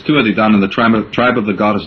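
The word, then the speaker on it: Tuatha Dé Danann: No, you pronounced it right. It's Tua de Danann, the tribe of the goddess Dana.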